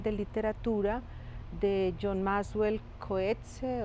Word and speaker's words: Coetzee: literatura de john maxwell coetzee o que se bueno se pronuncia de una manera muy extraña digamos que yo digo cohetes y esa novela se